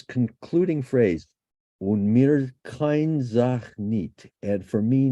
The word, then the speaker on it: kein: Now, note how the word kein is transcribed here, with the diphthong pronounced like the English word I, kein, not as Cain, which would be somewhat more a somewhat more common pronunciation.